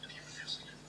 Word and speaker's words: Piłsudski: Alors c'est un L barré, donc ce qui prononce gauche, Piłsudski.